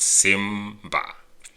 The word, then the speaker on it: Simba: Simba which is lion like Simba in the movie Lion King is pronounced Simba chakula which means food